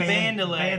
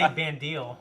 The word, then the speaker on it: Vandelay: Vandelay. Vandelay. Yeah. Okay. I used to say Bandil because I didn't know how pronounced, in real life.